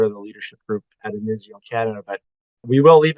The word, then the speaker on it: Inizio: You're listening to Dave Cann of Inizio Engage here on the NPC podcast, although I really do want to use the Italian pronunciation. Inizio.